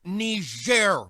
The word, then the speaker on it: Niger: It's pronounced Niger, Mr. President, and it's a country in Africa.